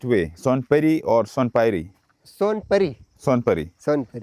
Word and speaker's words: Sonpuri: How to pronounce right way? Son puri or son py.